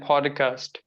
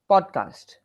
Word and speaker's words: podcast: Project and podcast. Podcast. Podcast. Yeah, podcast. Actually, you are adding an sound. It's not podcast. It's podcast. There are two syllables here. Podcast.